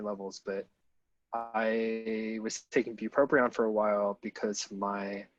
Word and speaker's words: bupropion: So this comic is the Escape from Bupropion.